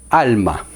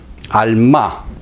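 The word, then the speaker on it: עלמה: Doncella en hebreo se escribe alma, alma, para pronunciarlo mejor.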